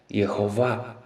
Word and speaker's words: Jeová: Mas, recentemente, em manuscritos muito antigos de sacerdotes judeus, tornou-se conhecida a pronúncia original exata do nome próprio de Deus, a qual é Jeová, nome que significa eu fui, sou e vou mostrar ser.